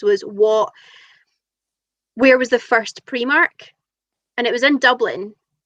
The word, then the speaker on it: Primark: actually the other night on Holly's quiz, because one of the questions was where was the first Primark?